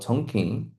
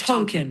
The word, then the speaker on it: Tonkin: Middle school history teacher Jordan McOaks uses the Gulf of Tonkin. The Gulf of Tonkin.